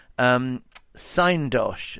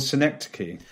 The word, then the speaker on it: Synecdoche: the film you've chosen, Syndosh, is that right? Am I pronouncing it right? I think it's called Synecdoche.